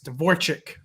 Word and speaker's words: Dvorchak: It's Dvorchak, right? Right? It's more like an E. It's like an EK. Oh, you pronounce like ICK and it's like EK, but like I don't really care.